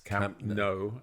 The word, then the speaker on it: Camp Nou: Well, that's a difficult one because it's Camp Nou, or it's not even new.